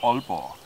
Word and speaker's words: Aalborg: Jutland that is called Aalborg. And it's actually O in the beginning, but we spell it with two A's.